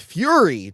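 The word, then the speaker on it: Furie: They got Sidney J, I believe it's pronounced Fury, to direct this.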